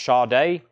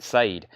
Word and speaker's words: Sade: Sade, yes, I got corrected about that years ago, which it's spelled just like Sade, and if you didn't know it was pronounced Sade, you would have no idea. That's why I was always saying Sade.